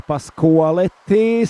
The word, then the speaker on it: Pasqualetti: Now I know it's Pasqualetti, so I'm sorry for yesterday's pronunciation, which was a little bit off.